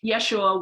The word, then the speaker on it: Yeshua: that is his name yeshua was the uh jewish pronunciation of his name that we now know as jesus it's spelled different ways